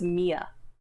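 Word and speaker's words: Miya: Her name is Mia. She's very pretty. Very pretty. It's spelled M-I-Y-A.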